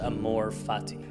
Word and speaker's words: amor fati: There's a Latin phrase pronounced amor fati.